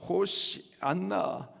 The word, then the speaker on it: 호산나: 누구의 자손이요 다윗의 자손이요 여기서 호산나 히브리식 발음으로는 호시 안나 뜻은 우리를 구원하소서 예수님을